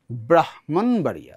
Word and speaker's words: ব্রাহ্মণবাড়িয়া: উচ্চারণটা হচ্ছে ব্রাহ্মণবাড়িয়া, ব্রাহ্মণ।